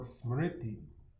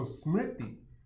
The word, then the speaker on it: smriti: But when you think about memory and you think about the word smriti, it's spelled S, the transliterated form is, you can listen to the sound too, S-M-R-T-I.